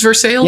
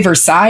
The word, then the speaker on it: Versailles: well you just don't official pronunciation is for sales yeah no like if you come here and say Versailles you're probably gonna get